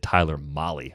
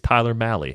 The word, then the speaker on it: Tyler Mahle: apologies for the 100 million times i said tyler molly over the years that was one that i just flat out had wrong so thanks to the pronunciation guide it's tyler malley and it has been corrected what do you